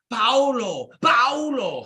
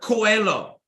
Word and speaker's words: Paulo Coelho: I think it's Paulo Coelho. Paulo, is that how you say it? Paulo, Mr. Coelho, okay?